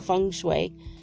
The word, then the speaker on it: feng shui: but it's shui it's how you say it feng shui um it looks like it's spelled feng shui but that's not how you